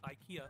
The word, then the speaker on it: IKEA: The English commercials say IKEA. IKEA love your home. That's the official English pronunciation.